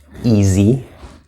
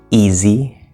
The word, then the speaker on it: easy: okay and we have easy easy and notice this s is actually a Z sound but easy we have